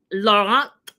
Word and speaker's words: Laurent: We meet Laurent is actually how you say it.